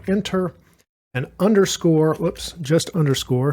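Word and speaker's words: Inter: to use one and it's called enter with an i so i n t r I'll go ahead and press the enter key and that of course is spelled with an e on my keyboard but they sound the same okay now that we've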